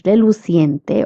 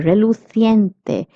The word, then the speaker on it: reluciente: It's reluciente or reluciente because the pronunciation is of CI. So you will pronounce it as C and not ki. Okay, reluciente or reluciente are both correct pronunciations, and this means shiny.